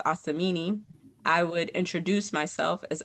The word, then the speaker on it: Asumini: So one example I have is when I went to college, even though my name was pronounced Asamini, I would introduce myself as and I would say, "Hey, my name is spelled a sm."